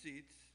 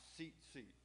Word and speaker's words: Tzitzit: the fringes the seat seats and it's actually uh spelled t-z-i-t-z-i-t and it sounds like it has a t but my understanding is it says it's pronounced seat this is s-e-a-t s-e-a-t